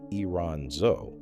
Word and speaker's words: Iranzo: Then Alex Iranzo, pronounced Iranzo, at Barcelona extended the follow-up beyond a decade, and the conversion rate climbed above 80%.